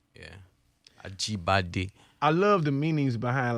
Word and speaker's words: Ajibade: Ajibade. Ajibadi. Yeah, Ajibade. It means born to the crown. Like born to the crown. Like, yeah. Ajibade.